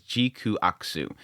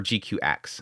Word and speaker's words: GQuuuuuuX: that's the title juks actually the way they pronounced it on a live stream was gaku so or gqx I think that's probably